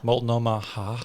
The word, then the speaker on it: Multnomah: Multnomah Falls?